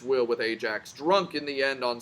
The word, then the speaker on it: Ajax: The other, Ajax, so Aias here, it's pronounced Ajax, perished with all hands, though first Poseidon landed him on Gyrae promontory and saved him from the ocean.